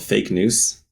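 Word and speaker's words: Fake Noûs: Uh so I have a blog called fake news which is spelled f a k n o u s which is on Substack.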